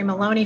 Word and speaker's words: Moloney: Very happy to have Moloney from Don and Kinsale Historic Strolls.